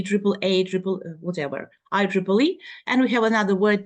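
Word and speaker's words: IEEE: this triple triple E triple a triple whatever I Triple E and we have another word template here also frequently mispronounced word template then we have the uh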